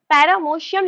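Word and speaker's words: paramecium: सो अगर मैं पैरामीशियम का ऐसे सीलिया बनाऊं, so this is द सीलिया ऑफ पैरामोशियम, लिखते हैं पर इसको प्रोनाउंस पैरामीशियम करते हैं, ओके, कंफ्यूज मत होना।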